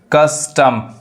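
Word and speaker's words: curse: पढ़ाता है यानी कप कस्टम कस्टम कर्स अब यहां देखिए कर्स नहीं कस क्योंकि वल के पास से जब भी आर आए वो आर क्या होता है साइलेंट होता है तो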